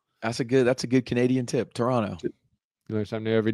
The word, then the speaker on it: Toronto: Canadians say Toronto like Toronto. They don't pronounce the second T.